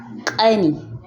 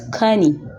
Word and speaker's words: ƙani: If you want to pronounce younger brother, you say ƙani, ƙani. This way you will sound like a native speaker, but if you pronounce it as kani, kani, you're not sounding like a native speaker. It's the wrong pronunciation.